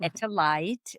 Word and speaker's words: Etel Leit: put my name dete lit t which is pronounced etalite and you can see my courses I have